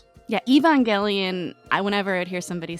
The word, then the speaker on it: Evangelion: Um I think usually I think we would usually say Evangelion. Evangelion. Yeah, that sounds right. But Evangelion. Evang long as you spell it right.